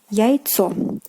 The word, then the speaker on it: яйцо: Next example, let's take this one, which is яйцо. Яйцо. Яйцо, meaning egg, and its plural form will be яйца. Яйца. So here again, the stress changes to the first syllable, яйцо, but яйца.